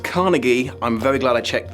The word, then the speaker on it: Carnegie: Winning Adams the Carnage Medal on the Guardian... Carnage? Is that a medal they give for children's books? Okay, it's pronounced Carnegie.